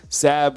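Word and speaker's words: Sabb: right so Sab the so the last name is Sab rhymes with tab um we think we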